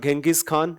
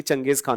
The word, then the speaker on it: Genghis Khan: And Changes Khan had become by the way Changes Khan is also called Genghis Khan in textbooks but his actual pronunciation will be Changes Khan only.